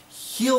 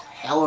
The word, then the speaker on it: H'el: And he did with Heal on Earth. I'm calling it Heal on Earth, not Hell on Earth, because there's no an extra L there.